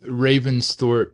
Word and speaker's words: Ravensthorpe: Now, around the Ravensthorpe, is that how you say it?